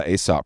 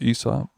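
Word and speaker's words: Aesop: ranch, they had stocked it with all the ASOP products. So there's a candle here. It's actually pronounced ESOP.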